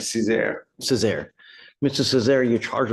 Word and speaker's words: Cesar: That's right, Cesar.